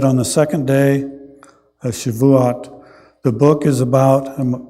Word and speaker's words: Shavuot: It's traditionally read in the synagogue on Shavuot, I believe is how that's pronounced.